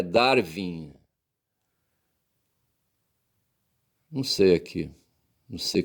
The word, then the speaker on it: Darwin: A pronúncia em inglês é Darwin.